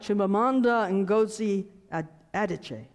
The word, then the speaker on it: Chimamanda Ngozi Adichie: but will not do correctly it's something like Chimamanda Ngozi Adichie that's the way I'm going to pronounce it well hope that's close she's a